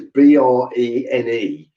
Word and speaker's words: Brené: Brown is spelled as you'd expect, but Brené is Brene.